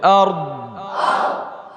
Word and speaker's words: أرض: السماوات والأرض، والأرض الذي له ملك السماوات والأرض، أرض র বলতে হবে, দ বলতে হবে, أرض أرض أرض, দত কই, দত ভাসে না কেন?